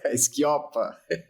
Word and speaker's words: Schioppa: E hoje eu convidei o grande amigo de tempos, Schioppa. pronunciei correto o sobrenome aqui? Quase. Schioppa. Schioppa. Faltou puxar.